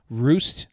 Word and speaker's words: Rust: uh flew into Zurich and traveled down to roost looks like rust but it's pronounced ro ro ro Germany M uh for